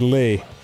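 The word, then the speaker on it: Leigh: But yes, for anyone who doesn't know, my first name is Lee. L-E-I-G-H. You know, like a lady would spell it.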